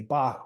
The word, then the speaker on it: BLKBOK: And like you said, your name is pronounced Bach, even though you spell it B-O-K.